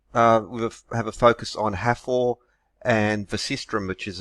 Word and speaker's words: Hathor: Hello, in this video we'll have a focus on Hathor and the Sistrum, which is a musical instrument, and Hathor, sometimes pronounced Hathor, is a goddess connected with fertility and joy, music and dancing.